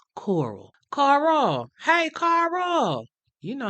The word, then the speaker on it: Coral: when he was young they would say his name like country people tend to do with that draw you know that made that one syllable name Carl sound like the two syllable word coral Carl hey Carl you